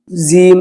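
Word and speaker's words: ج: এটা গলত সহি হবে হলো ফা জিম এই জিমটা শক্ত হবে আমরা জিম জিম এভাবে নরমভাবে বলি কিন্তু না জিমটা সহি উচ্চারণ শক্তভাবে হবে জিম হা এই যে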